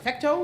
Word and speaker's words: Fecteau: So we're going to welcome our next storyteller to the stage, Fecteau. Fecteau, did I say it right?